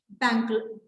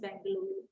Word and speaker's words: Bengaluru: Bangalore, not Bangalore, Bengaluru. It's pronounced as Bengaluru.